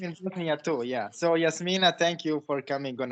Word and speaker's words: Jasmyne: well, by the way, because I kind of say Jasmine, but it's Yasmina, but it doesn't really matter.